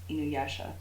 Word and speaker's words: InuYasha: InuYasha.